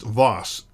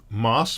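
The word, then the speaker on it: Waas: pronounce my last name it's just vas like Z the river but then with a W okay so not mass but vas I actually live very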